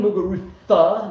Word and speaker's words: Muguruza: Garbine Muguruza, notice the pronunciation on that Z went to a th, representing proper English or Spanish in this sense.